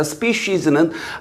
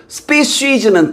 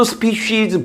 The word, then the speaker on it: species: species는 이렇게 each나 every는 늘 이렇게 단수 취급을 하고 species는 단수도 species, 복수도 species입니다. 그걸 발음도 주의하시고 species 아니고 species. 알겠죠?